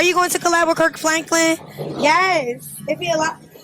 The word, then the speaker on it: Kirk Franklin: It's Kirk Franklin, not Kurt Franken.